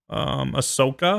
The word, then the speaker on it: Ahsoka: Ahsoka. Is that how you pronounce her name?